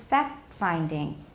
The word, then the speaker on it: fact-finding: in phrases such as fact-finding. Fact-finding. I don't drop it. Can you hear it? Listen and watch. Fact-finding. Did I drop the T? Fact-finding. I didn't drop it. It's just unreleased.